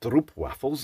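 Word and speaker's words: stroopwafels: Treats it's known for three things first they're pronounced stro waffles indeed I've I've been enjoying the STP waffles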